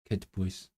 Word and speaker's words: cytbwys: Is it just kid? Cytbwys. Yeah. It turned the d into a t.